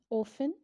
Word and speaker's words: often: Often. T is silent here.